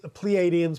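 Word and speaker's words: Pleiadians: contact with the plans is that how you pronounce it yes pleadians plar same difference the jarn okay and did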